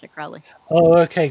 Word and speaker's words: Crowley: has always pronounced it Crowley. Oh, okay. Crowley like holy or moly. Not you're not calling him holy because you're a Thelemite. It No, no, no. sounds like holy.